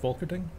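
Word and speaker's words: Volkerding: I think his last name is pronounced Volkerting.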